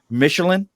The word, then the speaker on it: Michelen: we're missing how well I deal with it Michelin perfect okay get that we have Oscar Mission Jeff I've butchered his last name so many times he